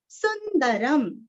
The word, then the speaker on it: सुंदरं: सीतापतिम सुंदरम, सुंदरं, सुंदरं सुरस्व और अनुस्वार का उच्चारण वांग्मय का ग, क्योंकि आगे क आया हुआ है।